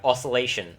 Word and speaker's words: oscillation: I used to call it Oscillo Hero, but it actually is Oscillo Hero because it's based off the word oscillation, which is... You pronounce the oscillation and not oscillation, so...